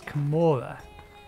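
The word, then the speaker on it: Kamura: That's right, it's Kamora. You spell it, or pronounce it, M-O-R, rather than M-U-R. Kamora.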